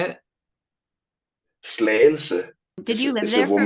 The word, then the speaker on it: Slagelse: Slagelse.